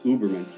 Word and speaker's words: Huberman: This was something that I think his first name is Steven, but his last name is Uberman, or Huberman, however it's pronounced. It's Huberman.